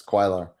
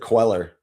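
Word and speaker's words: Cuellar: I looked it up on baseball reference and yeah, it's quailer. Okay. All right. So I said queller earlier and Michael's like, "Yeah, that's that's not correct."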